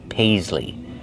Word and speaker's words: paisley: That pattern is called paisley. Paisley. Use the long a like say and pay. Pais. Use the z sound like zebra. Paisley. And the long e like green beans at the end. Paisley.